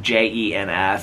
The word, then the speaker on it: Jens: His name is Jens, it's like J-E-N-S, it's like Jens.